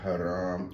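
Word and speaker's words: Hiram: Hyram. Hyram. Yeah. H I R A M. Mhm. Well, some people may pronounce it haram.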